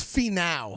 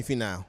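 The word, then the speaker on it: Finau: how to pronounce that it's fee now Tony fee now Pony fee now I'm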